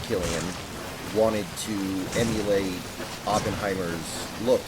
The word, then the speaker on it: Cillian: When filming Oppenheimer, Cillian Murphy, I think it's pronounced Killian, wanted to emulate Oppenheimer's look in real life, which was very frail and thin and almost emaciated.